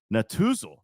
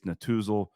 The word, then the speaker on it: Netusil: from Raymond James Financial Advisors Clay and Chase Natuzal.